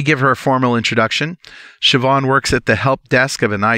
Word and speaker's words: Siobhan: And yes, that's how you pronounce her name, Siobhan Huggins.